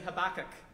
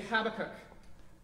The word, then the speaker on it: Habakkuk: Now, some people say Habakkuk, and some people say Habakkuk. Put up your hand if you say Habakkuk.